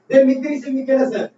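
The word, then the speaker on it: Demetrios Vikelas: तो यहाँ पर गलती लिखने में हो सकती है, लेकिन जो उच्चारण प्रोनाउंसिएशन कर रहा हूँ देवमित्रिस विकेलस।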